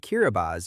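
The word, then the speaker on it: Kiribati: The country of Kiraabas, which is pronounced Kiraabas in the Micronesian Gilbert language, is an archipelago and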